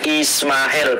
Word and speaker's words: Ismael: Ismael, ini cara bacanya Ismael, Pak Edi. Huruf S itu seperti huruf F ya.